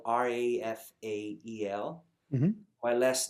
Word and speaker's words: Rafael: It's pronounced like a Portuguese, language, which the R has an H sound. Right. So Right. it's Rafael instead of Raphael.